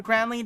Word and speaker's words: grandly: Just so you know, it's Carla Porter intended for Grandly to rhyme with Dandily.